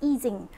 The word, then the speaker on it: Ising: a generalization of easing model if you or ising model uh initially I called it ising model and then when I went to Imperial Henrik told me it's actually pronounced eing so I guess eing is the correct way to pronounce the model